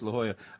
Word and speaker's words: La Jolla: Yeah, La Jolla. No, it's La Jolla.